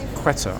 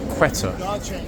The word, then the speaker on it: Quetta: And just come out, confirm, guys, I'm not talking about the state of Qatar in the Middle East. Quetta, I believe it's pronounced, from researches yesterday, which is a Pakistani city, in fact a major Pakistani city in the state of Balochistan. So Quetta, as I'm now going to be pronouncing it, is here again, looking